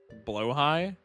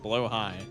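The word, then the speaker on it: Blåhaj: How do you pronounce it? Still IMO worst Coco? Absolutely, since he's only single target. Blow high? Is that really how you pronounce it? Blow high. Gotcha.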